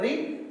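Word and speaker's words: read: पुट, सट, सट, सट, रीड, रेड, रेड। इसको लेकिन रेड पढ़ा जाता है, उल्टा उच्चारण इसका बदल जाता है।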